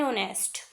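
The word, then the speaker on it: honest: एन ऑनेस्ट, an year, an hour, N honourable. आप यहाँ पर देख पा रहे हैं कि एच को साइलेंट रखा गया है।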